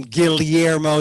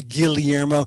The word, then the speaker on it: Guillermo: i say my name guillermo the double l is l y guillermo not guillermo that's spanish colonial nice spit on the colonizers the filipinos say guillermo gills fish gotta breathe so i said guillermo and they said guillermo